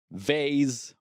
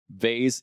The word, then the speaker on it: vase: The difference is vase is the American English pronunciation and then vas is a British English pronunciation.